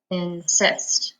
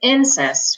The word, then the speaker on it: insist: in cyst in first insist now in this word if second syllable has the accent because we don't say incest we say insist okay let's try another